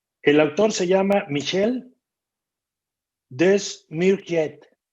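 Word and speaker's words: Desmurget: El autor se llama Michel Desmourget. Lo voy a pronunciar como se escribe, Desmourget, con G y al final T.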